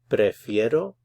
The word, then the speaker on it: prefiero: prefer to take aspirin prefiero Tomar aspirinas be sure to get the pronunciation of this I.E it's called a diphthong two vowels together prefiero pre Fiero prefero tomorrow I prefer